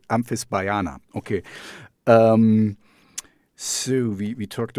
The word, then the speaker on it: Amphisbaena: Um, Amphisbaena. Amphisbaena. Okay, it's not so tough. Because for me there's like a AE, it's like an Amphisbaena, I want to say, but it's Amphisbaena.